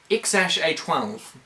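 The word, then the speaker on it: X Æ A-12: But eventually we found out that it's actually pronounced X-A12, I think.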